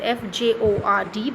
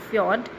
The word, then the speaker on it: fjord: poor poise so fjord as spelled it is f j o r d but we when we pronounce it as fjord fjord is a deep narrow body of water